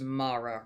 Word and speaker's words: Mara: So, it is pronounced Mara, right?